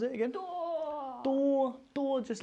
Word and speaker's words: 多: 多 mean no. Oh. 多 Oh, this little door from Domino, it sounds the same.